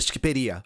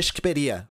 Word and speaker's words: Shqipëria: Eu só sei como se pronuncia isso porque eu vi o Enver Hoxha falando e ele fala Shqiperia. E albanês em albanês é Shqiptar. Então, desde o século 17, eles chamam a Albânia de Shqiperia.